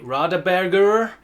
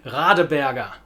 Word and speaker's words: Radeberger: So in German, don't say Radeberger, say Radeberger. Radeberger.